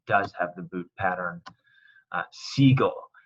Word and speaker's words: sigo: Sigo, it takes out the U to maintain that hard G sound. So it wouldn't be sigo. It's got to take the U out. Or sigo is what it would be. Sigo, sigo.